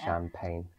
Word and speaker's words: champagne: Champagne. Champagne. Don't be fooled by the G in there. The G is not pronounced. So it's called champagne. Let's try something harder.